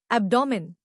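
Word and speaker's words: abdomen: एब्डोमेन।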